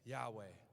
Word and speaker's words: Yahweh: And these Jewish mystics, they believed that how to pronounce that name, YH, is an inhale, WH, exhale, Yahweh.